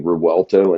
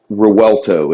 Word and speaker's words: Revuelto: the brand new ones actually is the Lamborghini Revuelto, and that's hybrid.